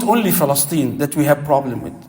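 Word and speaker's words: فلسطين: By the way, Palestine, the right pronunciation, we all make this mistake. بكسر الفاء وفتح اللام. You say Palestine. Fa with kasra, al-lam with fatha.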